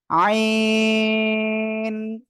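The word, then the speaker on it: ع: অক্ষরটা কিভাবে উচ্চারণ করব গলার মধ্যে হালকা চেপে আমরা উচ্চারণ করবো চার আলিফ টেনে উচ্চারণ করবো এই অক্ষরটা আইন সবাই একসাথে জোরে বলেন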